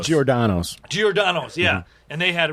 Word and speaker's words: Giordano's: DiGiorno, but there was a place in Chicago off of Southport and, in Wrigleyville, Diagorno's or something. I don't know. I'm mispronouncing it. but it's Giordano's.